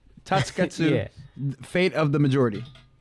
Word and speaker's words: Tasuketsu: Correct me if I'm saying it wrong, but Tasuketsu. Say it a lot faster, and then you'll be saying it right. Tasuketsu. Tasuketsu. Tasuketsu. There's supposed to be no like pause.